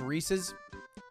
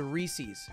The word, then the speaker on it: Reese's: mixed peanut butter and chocolate so seamlessly it's pronounced reese's yeah but psychopaths call it that because i was six when i found out about reese's and i said reese's and that's what he said in the schoolyard